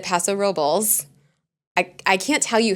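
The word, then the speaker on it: Paso Robles: yes there is there is there a traditional uh Spanish pronunciation absolutely but we also don't say like Los Angeles like it's not we say Los Angeles like so anyway back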